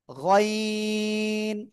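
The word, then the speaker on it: غين: গাইন গাইন না গাইন গলার শেষ ভাগ থেকে উচ্চারণ হবেন সবাই জোরে জোরে উচ্চারণ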